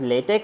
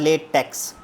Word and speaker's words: LaTeX: It is pronounced as latte or latte. Okay. It depends upon your pronunciation and accent. But it is not latex.